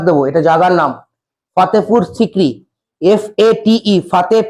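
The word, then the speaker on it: Fatehpur Sikri: যেটা কে বানিয়েছিলেন এমপার আকবার কোথায় ফাতেপুর সিক্রি উচ্চারণ এটা জাগার নাম ফাতেপুর সিককরি এফ এটি ফাতে পি ইউ আর ফাতেপুর সিককরি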